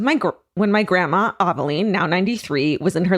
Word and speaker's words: Ovaline: It's O V A L I N E, but it says pronounced Ovaline. Ovaline? I've never heard that name. Like Maybelline, but Ovaline?